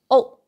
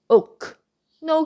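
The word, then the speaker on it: 屋: No, no K sound. Don't pronounce look, but look, look. Okay? And another, UK in tone 1. It means house or flat. Oh, oh. Don't pronounce oak.No K sound.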